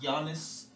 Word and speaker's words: Giannis: and by the way it's pronounced giannis you're really showing you